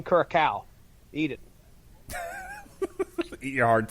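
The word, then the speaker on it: Curaçao: let's try this one oh one of those is silent okay here we go why is there a bat signal in there karako curacao is that what you're trying to say and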